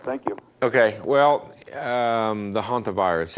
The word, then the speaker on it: hantavirus: you ok well the hantavirus it's a very its name almost fills in with the doesn't it isn't spelled like it like it sounds but it almost sounds like a haunted house it's a very it's